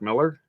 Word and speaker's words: Millar: was written by Mark Millar, who I found out it's not pronounced Mark Millar, it's Mark Miller, apparently. Oh. Yeah, it's just spelled differently, just Miller.